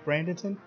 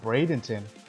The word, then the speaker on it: Bradenton: how you pronounce it is it pronounced brandenson no it's pronounced Bradenton if there are any